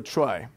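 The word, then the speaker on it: trie: structure has called a try some people pronounce it tree but it's a bit confusing because you've got a tree the B tree so this is going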